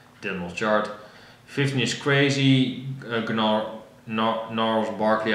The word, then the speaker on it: Gnarls Barkley: 15 is Crazy, Gnarls Barkley, I believe the G is silent.